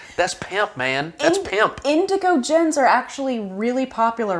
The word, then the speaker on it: Indoggo: it are you sh no it's indago it's pronounced indigo is it but it's got d-o-g-g-o okay all